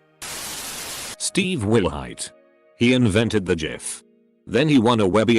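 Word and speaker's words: GIF: went up and said it's pronounced jif ajif jod himself could come down and tell me that i wouldn't believe it it's jif forever bye whoever put the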